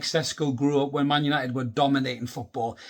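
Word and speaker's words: Šeško: And that could very well be the case with Benjamin Sesko here, or Sesko, as it's pronounced, I believe.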